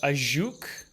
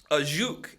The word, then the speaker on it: Ajuch: I think it's called the Ajuch. Ajuch, A-J-U-C-H, Ajuch.